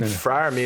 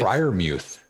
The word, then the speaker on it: Freiermuth: let's get into some Freiermuth. Freiermuth.